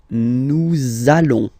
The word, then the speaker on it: nous allons: link between the words, so it does mean that you will have to pronounce this z sound, okay? Listen to me. Nous allons.